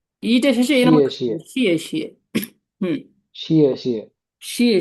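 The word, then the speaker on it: 谢谢: আমরা যখন ওদেরকে থ্যাংক ইউ বলি আমরা বলি শি শি হুম, ঠিক আছে এই শিয়ে উচ্চারণ শিয়ে শিয়ে শিয়ে। শিয়ে শিয়ে হুম, তো আমাদের একটু ভুলে আমরা এরকম বলি যে শি শি না শি শি, এটা ভুল হবে, শিয়ে শিয়ে।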